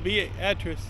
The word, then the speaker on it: Beatrice: So here we are in Beatrice. Call it Beat Rice because it's spelled the same.